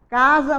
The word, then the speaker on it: casa: as saiu de casa casa nós sabemos que é com a letra s mas na nossa pronúncia é com z e foi passear que